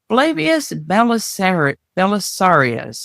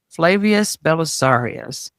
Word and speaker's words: Flavius Belisarius: And with that, we're going to start with a man named Flavius Belisarius, I think is probably how that would be pronounced in these times. Flavius Belisarius.